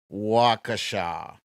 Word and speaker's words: Waukesha: let's see wakasha ah thank you jamie it's the pronunciation is wakasha i'm sure i'm gonna